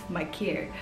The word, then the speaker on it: Maker: then you definitely know that maker name has been butchered because it's thon makir as the south sudanese i know that name is pronounced as my care but on my mccare is a professional basketball